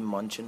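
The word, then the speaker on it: München: B. Munchen, I guess, but that's how you say it in German. Has a really nice patch here.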